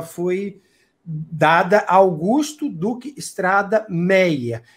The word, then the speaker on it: Méier: dada Augusto Duque Estrada Meyer e se pronuncia essa pronúncia do Méier era com Y né e depois da Maia exatamente falar E ai né Pois é o Y né as pessoas não pronunciavam Maia vou mostrar o meia e aí com o tempo houve a liberação tiraram isso assistiram pelo ir e o bairro acabou se chamando pelo Méier e não como um